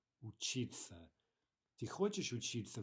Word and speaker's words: учиться: We don't say учиться, we say учиться.